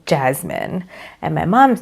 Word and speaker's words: Jasmine: So in my sister's name, we usually pronounce her S as more of a Z, Jasmine.